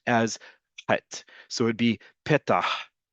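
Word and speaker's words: פתח תקווה: from Middle Eastern, North African countries would still pronounce it as het. So it'd be petah, not petach, petah.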